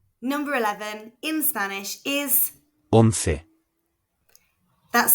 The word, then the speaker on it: once: Number 11 in Spanish is Once. That's spelled O-N-C-E and pronounced once. Remember, a C before an E or an I makes a th sound.